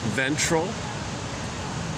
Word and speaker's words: ventral: When we reflect on the day through the lens of our nervous system, we can recognize ventral. Oh, simply rhymes with central.